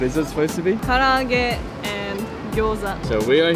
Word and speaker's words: Karaage: other people say in that's Japanese that's not pronounced right. Like edamame. Edamame. Edamame. Edamame. Karaoke. Karaoke. Karaoke. Karaoke. Garage with Gyoza. garage with gyoza. What is it supposed to be? Karaage and gyoza.